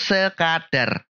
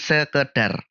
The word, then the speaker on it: sekadar: salah penulisan atau pengucapannya yang bener itu sekadar bukan sekedar karena kata dasarnya adalah kadar bukan Keder sedangkan silahkan itu